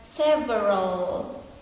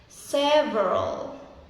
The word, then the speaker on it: several: I pronounce it in a three clear syllables. like several. But it should be just two syllables like several several several.